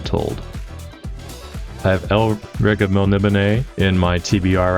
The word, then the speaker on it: Melniboné: Spelt Melniboné, pronounced Melniboné.